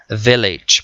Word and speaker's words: village: por el estilo Village la v en inglés se pronuncia diferenciada se marca los labios Village pueblo contaminación pollution nada